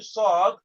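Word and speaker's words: ص: Sad, you make that O shape with your lips. Sad. And the teeth, the tongue is touching both teeth.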